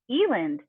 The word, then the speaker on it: Elland: the Ellis Island thing, that it's pronounced Elland and spelled Elland.